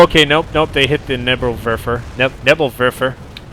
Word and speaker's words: Nebelwerfer: Oh, no, okay, nope, they hit the Nebelwerfer. Nebelwerfer. Gotta pronounce my W's correctly.